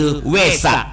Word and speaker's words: เวสสะ: วา แหวน ส เสือ อ่าน แบบ ภาษา บาลี คือ เวสสะ ถ้า ภาษา ไทย อ่าน ว่า เวท เวสสะ ตัว นี้ แปล ว่า